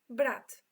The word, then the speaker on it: brat: Brat. To pronounce it is literally the same. Brat.